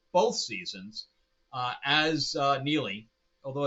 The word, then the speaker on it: Neagley: seasons uh as uh Neely although it's spelled differently it's spelled EA NE a GLE so the g is silent um she's great she's